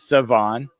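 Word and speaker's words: Shedeur: Savon Rall Jr., the quarterback, and it is Savon even though it's spelled SHA. It's Savon Rall Jr.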